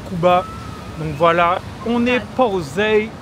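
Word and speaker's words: Kouba: Ah, c'est comme Cuba. Ok, on est à Cuba, les gars. Ah, K-O-U-B-A. Ok, on est à Cuba, les gars.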